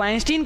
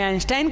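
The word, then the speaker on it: Einstein: Albert आइंस्टाइन जो है कोई इनको आइंस्टीन कहता है कोई आइंस्टाइन कहता है अलग-अलग भाई उच्चारण है आप जो समझ ले वो सही रहेगा तो हम इन्हें अल्बर्ट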